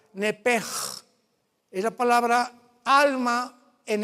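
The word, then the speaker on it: נפש: En el hebreo se pronuncia la S-H como J, nepej. Es la palabra alma en hebreo, nepej.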